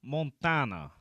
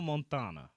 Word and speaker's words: Montana: Apparently, they pronounce it the French way. They pronounce it like Tony Montana.